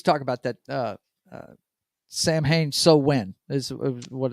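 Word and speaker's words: Samhain: Uh, Von Headbanger says, actually pronounced so when truth. Oh, okay, gotcha. Um, he's talking about that. Sam Hain so when is what it's Okay, they I got you.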